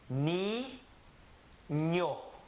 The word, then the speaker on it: niño: Ni, ño.